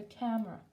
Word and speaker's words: camera: Be careful on pronunciation, a camera, ok? Accent, a camera.